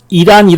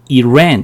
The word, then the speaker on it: Iran: 두 번째, 이란 이러죠? 대개는 뭐라 그럽니까? 그렇죠. 이건 뭐예요? 뒤에 자음이 하나 있으니까 어떻게 발음한다? 에 발음한다. 그래서 Iran 이렇게 많이 발음을 해줍니다.